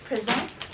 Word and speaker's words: présent: So present is masculine, is spelled Present. That's masculine, present, and you don't say the T, and that's masculine.